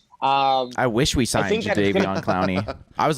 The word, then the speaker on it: Clowney: Yeah, you got Clowney.